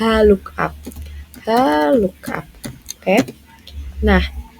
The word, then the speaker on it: HLOOKUP: H look up. Oke. Nah, gini cara bacanya gini. Haluk tolong carikan.